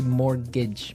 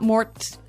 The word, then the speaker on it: mortgage: with a t yeah it has a t in it but you don't pronounce it you say morgage morgage so not Mort morgage not mortgage morgage